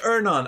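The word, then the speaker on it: Earnon: as iron i've ernon is it actually pronounced ernon i've always pronounced it iron okay i learned something today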